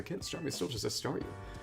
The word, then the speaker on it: Staryu: Starmie's still just a Staryu. Could never pronounce its name right. I always end up sawing like saw you.